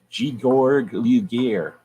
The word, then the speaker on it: Georg Luger: If you truly shoot 9mm, you hold your 9mm like this, with your pinky out, and you say Georg Luger, because that's the proper German pronunciation.